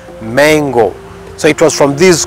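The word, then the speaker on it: Mengo: the mango palace and this mango is spelled as m e n g o not M A it might sound like the fruit but it is not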